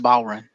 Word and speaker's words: bodhrán: a reverse chinlock mmm it's pronounced bowren what amorous idea silent